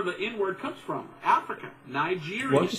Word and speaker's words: Niger: And here's a guy in the Bible, Simon the Niger. Now they pronounce it Ni, with an I or a different I sound.